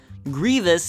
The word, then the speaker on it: Grievous: never be called Hans Grievous is mischievous Anakin inv Vader Admiral